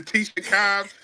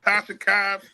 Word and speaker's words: Tasha Cobbs: My man was mispronouncing words, giving the words to Tisha Cobbs, not Tasha Cobbs.